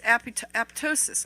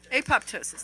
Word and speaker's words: apoptosis: it kills cancer cells it induces aptosis i think that's pronounced that right apoptosis thank you got me there it induces that apoptosis